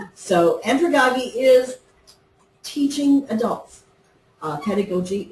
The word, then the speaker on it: andragogy: it up and that's what they said so andragogy is teaching adults uh pedagogi is teaching children